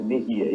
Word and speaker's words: Merria: Marco Alfredo Merria, tá certo a pronúncia? Tá certo. Primeira pessoa que diz a pronúncia correta, Merria, isso aí.